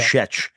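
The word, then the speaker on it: Schaech: Like, there's a Jonathan Skeet. We would learn how to say his name. Jonathan Sheck. That's right. Yeah. Shech.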